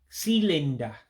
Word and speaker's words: sịlịnda: So the I's with the dots underneath gives that high-pitched I sound or E sound, however you want to say it, like ink.